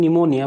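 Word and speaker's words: pneumonia: शुरुआत कहाँ से होता है, P से शुरू होता है, जबकि P पूरा का पूरा क्या है, साइलेंट वाला P है। ये P प्रोनाउंसिएशन नहीं होता, इसका प्रोनाउंस नहीं किया जाता।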